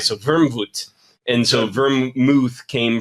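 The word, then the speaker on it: Wermut: So, vermouth is and by the way the name comes from the German uh the way they pronounce it. It's wormwood, right? So, vermvoot.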